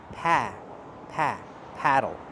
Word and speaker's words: paddle: Paddle use the a sound like black cat. It's more open. Pa pa paddle.